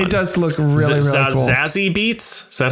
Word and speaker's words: Zazie Beetz: Zazie Beetz? Is that how you pronounce her name?